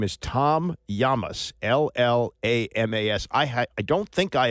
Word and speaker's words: Tom Llamas: and I didn't really even know how to pronounce it. I was told it's Llamas. His name is Tom Llamas, L-L-A-M-A-S.